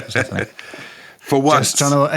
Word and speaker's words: Persephone: I know it's pronounced Persephone.